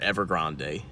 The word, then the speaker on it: Evergrande: imploding they just had a massive property developer ever Grande ever Grand however you want to pronounce it declare bankruptcy and we all know